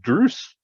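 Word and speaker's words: Druss: david gemmell pronounced him drews bruce so he certainly sounds more scottish as well but it sounds weird to me i've always thought of him as drus as well it's not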